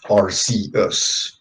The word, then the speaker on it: Arceus: yeah that's fair but to me like it's it's name is like because of the way that it's spelled to me it's always been pronounced rcs yes yeah that's fair and it's like arceus i i i get what it's coming from but it's like i'm sorry i just can't pronounce it to me it's just rc us there's always that group